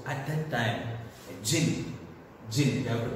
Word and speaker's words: jinn: Jinn, you have to pronounce the word jinn.